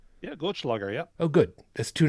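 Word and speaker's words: Goldschläger: you take them too literally did i even pronounce that correctly is that goldschlager did i say that right yeah glitchlogger yeah oh good that's two nights in a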